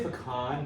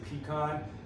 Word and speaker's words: pecan: I say pecan, but you can also say pecan. You can also say pecan. You can say pecan. All 4 ways are accepted. Some of the few words that go nuts, pronounce that nut any way you want.